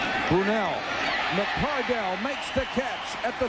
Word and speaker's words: McCardell: a letter and said, "You're mispronouncing my son's name. It's McCardell, not McCardle."